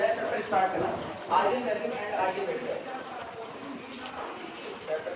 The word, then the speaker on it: eigen: अब ये प्रोनाउंसिएशन की बात है, कई लोग इसको आइजन कहते हैं, आइजन वैल्यू आइजन वेक्टर। अब ये ऐसा नहीं होता है, मैक्सिमम टाइम में इसका प्रोनाउंसिएशन ये होता है आइगन।